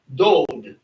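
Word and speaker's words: דוד: Now, when it's not a proper name, it is pronounced Dod, where the Wav has the O vowel designation instead of the U.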